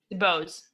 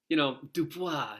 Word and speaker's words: DuBose: How do you say Phoenix's last name? DuBose. It is DuBose. Okay. DuBose. We didn't know if you went with the French, Dubois.